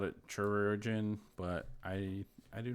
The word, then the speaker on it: chirurgeon: Yeah, Wales says call it surgeon, but it is pronounced with a hard K. So yeah, hard K sound.